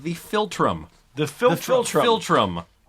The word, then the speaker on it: philtrum: nose is called the philtrum the filter philtrum philtrum like from hey phil and hey trump interesting you're two friends